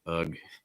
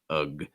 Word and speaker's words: ugh: was a difficult test ugh ugh usually pronouncing that g g that u you'll notice is a schwa sound so it's very reduced just kind of like letting the air out ugh our next one